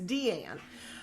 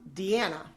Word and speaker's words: Deana: My name is Deanne. But when you have a name that's spelled Deana, you become Deanna.